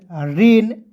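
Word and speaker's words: rain: हो जाएगा दोस्तों गेन आर ए आई एन रेन एच ए आई एल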